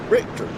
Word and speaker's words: Richter: Tom's last name is pronounced Richter, not Rich. Oh, wow. Paul. Richter. Hadn't corrected me on his. I've been saying Richard all this time.